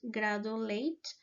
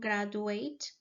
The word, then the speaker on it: graduate: Um, the next uh the next error that I found is that Sebastian pronounced gradulate instead of graduate.